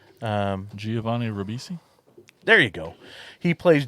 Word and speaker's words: Giovanni Ribisi: Govini. Giovanni Ribisi.